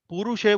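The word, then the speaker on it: पुरुष: you pronounce this word it is actually purusha would mean which is a long u it will be a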